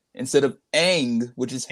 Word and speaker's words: Aang: decides to call the character wrong instead of egg which is how it's pronounced a nutshell yes it's spelt Aang but in the movie he says along it's like what why would you do so